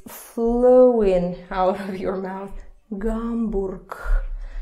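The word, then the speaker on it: Гамбург: Hamburg. So this turns to the unvoiced pair. Mm-hmm. Hamburg.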